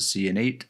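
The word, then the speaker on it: Ciannait: a Bethesda livestream and that's how one of the developers pronounced it C & 8 so I guess that's how I'm going to pronounce it this is a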